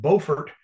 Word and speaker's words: Beaufort: Beaufort, South Carolina. Not to be confused with Beaufort, North Carolina, which is spelled the same way, B-E-A-U.